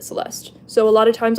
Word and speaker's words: Celeste: I just say Celeste. In some cultures, they pronounce the E, they say Celeste. But I pronounce it Celeste.